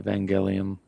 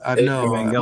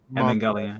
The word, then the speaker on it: Evangelion: Damn, I keep saying I'm glad you just said that, bro, because I've been pronouncing his name wrong this entire time. It's from a Japanese anime, Evangelion. Yeah, I know. Evangelion. My bad. Evangelion.